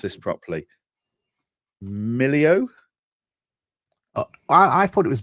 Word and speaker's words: Melio: sure I bring bring this up so I pronounce this properly. Millio. I thought it was Melio, but I I'm terrible at this, right?